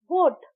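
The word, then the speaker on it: would: Again वुड डब्ल्यू ओ यू एल डी वुड इसमें भी L silent है।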